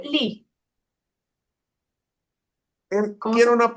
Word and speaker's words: gli: Gli studenti. Ajá, yo tengo ahí una pregunta. Adelante. En el artículo determinado masculino, justamente es el plural. Ese gli se pronuncia li.